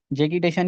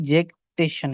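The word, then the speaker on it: jactitation: तो ये मकसूद के हिसाब से ये जैकीशन है। तो हम वही मानते हैं। तो जैकीिटेशन इसकी ये प्रोनाउंसिएशन है।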